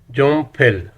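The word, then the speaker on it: 연필: ये लफ्ज़ है जॉन फिल। प्रोनाउंसिएशन रूल के हिसाब से ये प्रोनाउंस होगा जोम फिल। ये नियन जो है ये पश्चिम में आ रहा है पहले सिलेबस के, और अगला सिलेबस शुरू हो रहा है फियप से। प्रोनाउंसिएशन रूल के हिसाब से नियन जो है ये साउंड देगा मियम की। जोम फिल।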